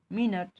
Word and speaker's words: minute: MINUTE, इसका pronunciation क्या होगा, उच्चारण क्या होगा? मिनट, यही ना।